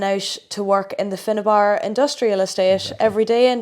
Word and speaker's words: Findabair: its correct pronunciation would be Findabair Industrial Estate.